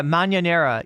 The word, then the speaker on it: mañanera: For anybody who's confused about the word that I was saying and thinks I was mispronouncing mañana or some other word, that's the word right there, mañanera. I'm pronouncing it with my accent, but it means early riser or early bird.